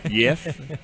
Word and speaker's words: Jeff Handojo: Jeff Handojo. Brother, It's what's going on? it's a strong J. It's a strong J. It's pronounced with J. It's Jeff. Yef. Yef. Strong J.